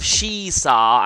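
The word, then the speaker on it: Shiisaa: I currently have Shisa, and that is how you pronounce it, because I have looked up the actual Japanese.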